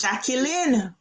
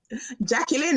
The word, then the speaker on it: Jacqueline: days um off school I thought my name was Jackie Lynn because I saw the T-shirt didn't pronounce it Jacqueline oh Jacqueline that's how she she pronounced